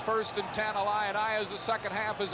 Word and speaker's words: Illini: I was saying Illini, making it a 4-syllable. It's fighting Illini. 3-syllable. My apologies for the fighting Illini.